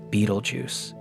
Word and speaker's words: Betelgeuse: astronomical future are Beetlejuice, often pronounced Beetlejuice and Antures.